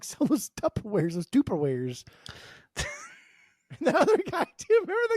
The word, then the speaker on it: Tupperware: going to tear that why are you saying tuperware what do you me how do you say how you say it it's just Tupperware it's there's two P's in there you didn't say that